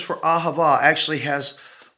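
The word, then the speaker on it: אהבה: the letters themselves and sound them out they're going to be different but the word when you sound out the word is ahava and the word for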